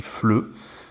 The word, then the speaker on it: FLE: dire français langue étrangère je sais qu'il ya beaucoup de gens qui pensent que ça se dit est faible et moi j'étais le premier à le dire au tout début en fait on va prononcer les trois lettres ensemble et donc ça se dit fle on peut faire la